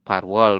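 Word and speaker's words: 팔월: betul, Parwol seperti ini. Kemudian 17 adalah Sip, Cil. Satuan Sil. hari apa? Seperti ini. Jadi dibacanya Sip Ciril.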